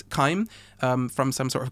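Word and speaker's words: chyme: it's time I think but it's c-h-y-m-e I'm gonna assume that's kaim um from some sort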